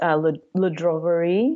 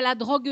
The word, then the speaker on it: La Droguerie: And then we had the creperie place, Le Droguerie. Yes. Am I saying it right? One. Yeah, La Droguerie.